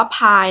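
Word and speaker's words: π: สอง พาย อาร์ อาร์ อัน นี้ อ่าน ว่า ภาย นะ คะ คือ สอง พาย อาร์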